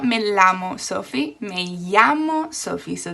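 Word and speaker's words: llamo: not melamo sofi me yamo sophie so the double l's is this yu sound basically like a y yeah okay and the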